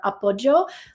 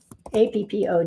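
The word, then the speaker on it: appoggio: you put in to search the channel for upjo which is I'll type it into the chat so you can know how to spell it a p p o g g i o Appo okay there you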